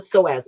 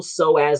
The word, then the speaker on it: psoas: It's called the psoas muscle.